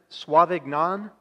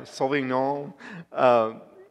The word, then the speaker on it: Sauvignon: Pinot and a Cabernet Sauvignon. You can tell it's not me. Now, I know it's not pronounced that way. But yeah, Sauvignon.